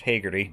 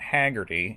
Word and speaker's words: Hagerty: and yes fun fact it is pronounced hegerty not hagerty it's william walsh hagerty